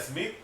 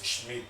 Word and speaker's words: Schmidt: La gente dirá Smith. No es Smith, es Schmidt, porque es S-H-M-I-D-I-T, Schmidt. Es alemán. Es el alemán, es apellido alemán.